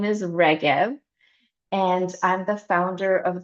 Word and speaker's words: Regev: So my name is and my last name is Reev and I'm the founder of the International Center for Collective Resilience.